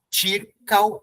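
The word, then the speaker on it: ĉirkaŭ: Circal, e esse U aqui, com a braquia, tá vendo aqui? O U, você realiza esse som junto com o A. Então, são duas sílabas só. Circal, tá bom?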